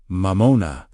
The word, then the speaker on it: Mammon: Mammon, pronunciation mamona, meaning wealth, possessions, or whatever becomes your object of trust.